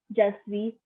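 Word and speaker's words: je suis: Shrijani, then I'd say just be Shrijani, which means I am. Just be Shrijani. So just be means I am. Again, do not pronounce the S at the end.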